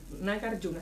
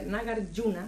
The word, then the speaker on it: Nagarjuna: Y desde hace 3 años Daniel es director del centro Nagarjuna, lo voy a pronunciar así, Nagarjuna, se escribe Nagarjuna con J, pero se pronuncia Nagarjuna de Madrid, que son